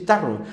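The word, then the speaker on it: Tarrou: un reportero un reportero llamado tar taru lo pronuncié bien Sí taru taru qué pasa con este reportero era un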